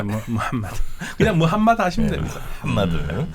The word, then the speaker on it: 무함마드: 네, 정확하게 무함마드입니다. 무함마드. 예, 무함마드인데 이게 H 발음이 우리한테 없는 발음인데요. 무함마드고요. 마호멧은 잘 안 쓰는 표현이에요.